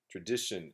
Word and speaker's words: tradition: today's word is tradition tradition you can say tradition stress on dick tradition tradition three syllables and so this word